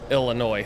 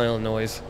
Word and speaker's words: Illinois: I hope you're doing well the S is silent so is that Oh jeah Oh Illinois sorry I call Illinois's yeah all right there